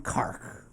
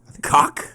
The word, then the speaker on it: Cork: Downtown Cork. Cock? Cork. James, I'm in cock. Think about car. Think about saying a car. Cark.